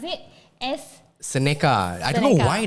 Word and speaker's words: Seneca: the next project, please pronounce it as Seneca.